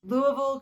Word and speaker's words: Louisville: Louisville, Kentucky. I've heard everything, and there's a lot of debate about this. Louisville, Louisville.